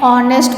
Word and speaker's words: honest: Next, for example, an honest boy, an hour. H is a consonant, but here the word starts with the vowel O sound.